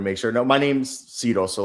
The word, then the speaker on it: Cyro: No, my name's Sido so like Sido like everyone butchers it.